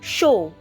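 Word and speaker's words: 쇼: If you noticed, I did not pronounce the Y character that was supposed to be present in these vowels because of this S sound. So wherever you see S in front of these particular characters, it's pronounced as SH.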